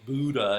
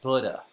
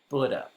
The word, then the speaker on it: Buddha: of us often say Buddha. In fact, I still catch myself saying Buddha. But the first syllable rhymes with wood, so it's really Buddha, like wood, bud, Buddha.